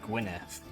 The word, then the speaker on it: Gwynedd: get a strong Alliance Gwynedd which I think is actually pronounced as Gwyneth because I think in Welsh 2DS is of the sound um they've got just